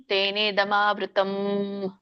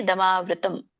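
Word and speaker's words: ತೇನೇದಮಾವೃತಮ್: ಗರ್ಭ ತಥಾತೇನೇದಮವೃತಂ ಮಾತಾಜಿ ಇಲ್ಲಿ ತೇನದಮವೃತಂ ಹೇಳ ಹೇಳಬೇಡಿ ತಥಾತೇನೆ ತೇನೆ ದಮಾವೃತಂ ವ್ಯಂಜನ ಇದೆ ಅಲ್ಲಿ ಸ್ವರ ಕೂಸಂಗಿಲ್ಲ ದಮವೃತಂ ಹರೇ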